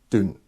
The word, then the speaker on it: Doune: doon the rabbit hole for those that don't understand in scotland down sometimes is pronounced dune and there's an area or place nearby where we're filming and we're not filming where the festival is and i'm filming called doom which is d-o-u-n-e and dune isn't down it's dwn